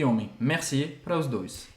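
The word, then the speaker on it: merci: temos essa a diferença entre mulher e homem Messi para os dois e presta atenção na pronúncia tá tem gente que pronunciar Mercy não é Mercy o som Ele é bem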